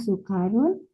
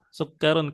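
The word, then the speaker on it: سُكَّر: H sukarun walika laabanu. Iya. Tib. Sukkarun. Kafnya bertasydid ya Bu ya. Hadza sukkarun. Oh kafnya bertasdid.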